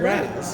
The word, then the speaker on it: Ra's al Ghul: Because Terry's the one saying Raz.